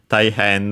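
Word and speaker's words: たいへん: By the way, I didn't mention that Thai Taihan uh was uh unacented.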